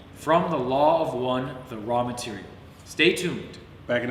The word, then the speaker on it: Ra: Raw Material.